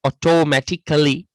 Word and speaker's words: automatically: CA අකුර silent වෙලා තමයි ඕක කියන්නේ ගොඩක් දුරට.